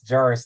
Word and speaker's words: Jarvis: It's Jarvis. Think of a peanut butter jar and S.